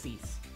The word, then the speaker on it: six: Okay, so let's open up number six, which in French is spelled the same way, but it's just cease.